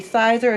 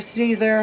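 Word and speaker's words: Siser: I will be applying a sublimation design over the Sizer or Caesar, however you guys want to pronounce it, glitter HTV.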